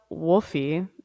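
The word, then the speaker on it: Wolfe: Oh, in my head it was Wolfie and I was chuckling. I would love if it was, but no. I know a lot of people the last name Wolf, but it spelled like that.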